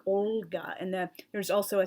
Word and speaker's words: Olga: my head the name Olga comes to mind there's a soft sign after the letter O and it indicates you have to roll the L so it's pronounced more like Olga and then there's also